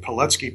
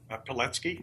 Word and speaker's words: Pilecki: And Pilecki put everything on the line for the liberty of his people, and that was – I did not know about him before.